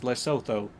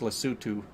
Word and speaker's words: Lesotho: I just want to call it Lesotho so bad. Because, I mean, that's how it's spelled, is Lesotho. But my cousin spent a bunch of time in South Africa and said that it's pronounced Lesotho.